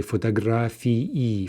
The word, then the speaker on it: фотографии: The nominative plural the ending is ee, two vowels, therefore two syllables. So if we're saying that very clearly, we say fotografii, fotografii, versus genitive plural is going to be e, right? И краткая, only one vowel, and therefore only one syllable in the ending.